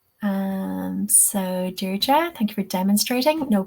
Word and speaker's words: Deirdre: So Deirdre, thank you for demonstrating.